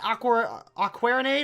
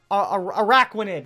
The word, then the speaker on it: Araquanid: But with that Aquarinade, I think it's you want to pronounce it, that could be a very good tandem. Speaking of that Pokemon, that is actually Wolf Dog's Araquanid. Sorry, not Aquarinade.